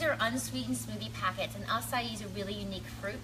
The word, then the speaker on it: acai: It is pronounced acai, by the way. Sometimes people say acai when they come into Glow Bio, but it's just an amazing, amazing beauty food.